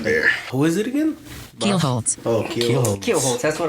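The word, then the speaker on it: Kielholtz: Keelholtz.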